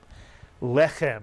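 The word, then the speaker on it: לחם: And therefore, this word would be pronounced Lechem, mitsuyan, lechem. The chet is the second letter, the slight clearing of the throat, lechem.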